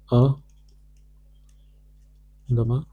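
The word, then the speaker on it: à demain: a demain a de main. With This is the nasal sound.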